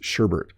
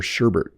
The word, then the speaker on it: sherbet: called this sherbet I added an R before the T and I wasn't the only one my parents called this sherbet they would say do you want ice cream or sherbet but the proper pronunciation is sherbet again I'm only giving